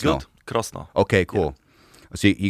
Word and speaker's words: Krosno: How do I pronounce that? Yeah. Krosno. It's good. Krosno.